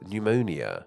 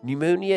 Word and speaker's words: pneumonia: more Airborne however is pneumonia pneumonia is a severe chest infection which can cause coughing and a fever while this word might seem incredibly odd to us with that silent P at the start it actually simply comes